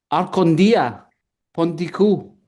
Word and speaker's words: Archontia Pontiko: Archontia Pontiko. How do you say your name? Archontia, Pontiko. Archontia Pontiko. Arcondia Pontiko.